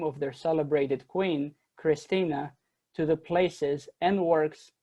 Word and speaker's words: Christina: the name christina or as they pronounced it in the vernacular christine but no one in